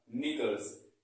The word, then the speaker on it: knickers: इसी तरीके से नेक्स्ट है हमारा निकल्स। निकल्स का स्पेलिंग क्या होता है, KNICKERS, निकल्स। क्या है, निकल्स। इसको निकल्स पढ़ेंगे, ना कि केमिकल्स।